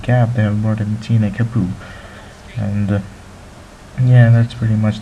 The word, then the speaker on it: Etienne Capoue: Speaking of the transfers again, well, Everton are really closing in on the midfielder, Toulouse's midfielder, Etienne Capoue is what they pronounce it.